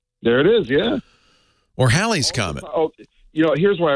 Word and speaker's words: Halley: I'm wrong this is Haley's Comet right or Halley's Comet as as is more properly pronounced no no this is